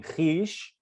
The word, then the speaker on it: خویش: Khish should rhyme with pish. So it's pronounced khish in Persian, which means the self.